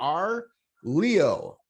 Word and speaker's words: Arleau: Sometimes you let that U float out there, but it's R, like the letter R, Leo.